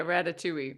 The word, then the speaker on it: Ratatouille: Eddie recognizes him and because he's a huge fan of Ratchetu or uh Ratchetoule. Is that how you say it? Yeah, Ratatouille.